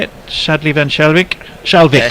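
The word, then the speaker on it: Schalkwyk: Shalvik, not Wink.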